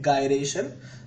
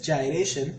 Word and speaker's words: gyration: the radius of gyration some people say it guy raishin but the correct pronunciation is gyration such that for the ring we have radius